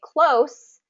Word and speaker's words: close: a close race okay close has an S sound at the end close